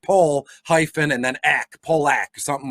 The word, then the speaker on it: Pollock: So if it's AJ Pollock, they will write Pole, like pole hyphen and then ack, Polak, something like along those lines.